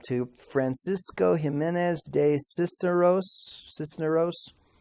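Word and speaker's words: Cisneros: francisco jimenez de Cicero's Sisneros sister oh I don't know Sisneros oh ok Sisneros ok I put the emphasis on the wrong syllable and he was a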